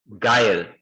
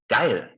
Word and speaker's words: geil: wherever you imagine, but it's actually pronounced like the first person pronoun in English.